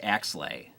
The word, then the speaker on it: Axelay: I see the Andrew Arbogast is saying, it's pronounced Axelay.